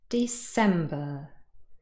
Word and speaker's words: December: can hear the stress december december hopefully you were able to hear that the second syllable is stressed december it is not